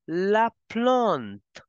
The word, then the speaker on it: la plante: Plant as la plante.